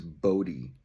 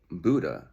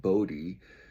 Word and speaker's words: Bodhi: And so when they introduced me to her, they thought her name was Buddha. So that's actually why I picked the name. I'm like, well, Buddha's cool. I'll go with Buddha. But then it turns out they just mispronounced the spelling of Bodhi, which is a really